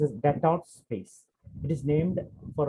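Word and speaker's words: Destot: Okay, and this is an another anatomical point called it's pronounced as Detot space.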